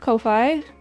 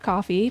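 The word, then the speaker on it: Ko-fi: a throne wish list I have heard of Kofi um which is probably supposed to be pronounced coffee but you know whatever and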